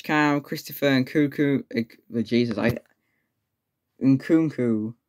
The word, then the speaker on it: Nkunku: French cam, Christopher and Cuckoo, Jesus, Nkunku, right?